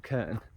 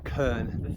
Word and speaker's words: Krn: Krnu, this is or probably called Krnu or Krnu, because they pronounce, Slovenians pronounce R's a bit like Scottish, so like Radela.